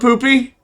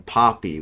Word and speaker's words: Poopy: So, what's up, Poopy? I actually mispronounced Poopy's name the first time he was in my stream and called him Poppy, which is a whole different meaning.